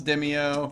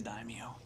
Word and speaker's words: daimyo: Padula doesn't know how to pronounce demio. Right. Guess what? You were right. What? It is daimyo.